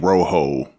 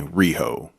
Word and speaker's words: Rehoboam: bomb you think no well I've been saying Rojo but it's actually Rijo Rijo bum yeah something like that he didn't say real